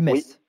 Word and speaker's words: Metz: des choses comme ça contre une équipe comme Metz donc quand on va jouer les gros du championnat comment ça va se passer quoi alors Frédéric juste un truc on dit Metz voilà mais ça je sais que c'est pas